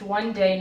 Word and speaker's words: Whande: means happy, and one day is pronounced one day, not 2 days.